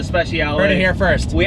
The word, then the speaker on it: Speciale: So it is the Ferrari 458 Speciale. Yes. Let's just call it the freaking Special, just to see how pissed off Ferrari gets. Oh, is that the 458 Special? The 458 Special. I call it the Speciale.